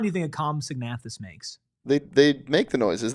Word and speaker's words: Compsognathus: Compsognathus.